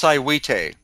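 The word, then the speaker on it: Saihuite: you have up of uh i i can't pronounce it s-a-i-h-u-i-t-e that's cywite okay and now this the you found some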